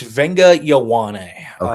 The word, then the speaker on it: Viliami Fehoko: Yeah, I was It's Viliami Fehoko.